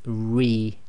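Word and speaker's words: رِ: So with Kasrah, it's tarqiq, i.e. it's light sound. So the pronunciation of this is Ri, Ri, and you can make a smile with that.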